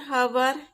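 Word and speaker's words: hour: एच के आगे भी ए एन लगाएंगे, जैसे एन हवर, एन हॉनेस्ट मैन, 1 घंटा, एक ईमानदार आदमी।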